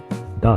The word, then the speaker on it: DAA: ダーっていうね、 DAA って書いて、ダーって読むんですけ